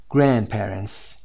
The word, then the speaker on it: grandparents: grandparents میتونید اینجا صدای د رو تلفظ نکنید، در تلفظ هم ببینید my grandparents.